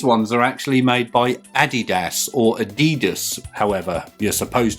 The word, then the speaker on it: Adidas: These ones are actually made by Adidas or Adidas, however you're supposed to pronounce it.